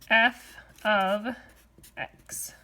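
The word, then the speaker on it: f(x): So this thing is pronounced f of x. Now f of x and y are really the same thing.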